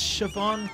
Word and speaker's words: Siobhan: at this it's um sioban Clark is that how you pronounce it Coban it's Siobhan Clark who is a well-educated